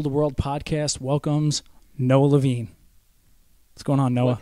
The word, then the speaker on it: Levine: Okay, so it is Levine. That is how my family pronounces it. I think that 99% of people pronounce it Levine.